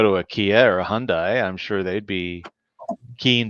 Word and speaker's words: Hyundai: salesman was like okay here's the easiest way to remember hyundai like sunday i said okay